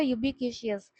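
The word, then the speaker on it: ubiquitous: Pronunciation का होता है इसका यूबिक्यूशियस।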